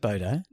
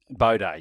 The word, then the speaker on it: bidet: That's how you pronounced it. No, I said Bodo. Bidet, yeah.